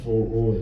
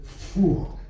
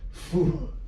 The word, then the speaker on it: Fu: So, but it's not FOO, as you might imagine that's on his IC is FOO. But, when we hear him play, it's called Fu. So when you pronounce him and you greet him, say, Fu. Okay, so this is going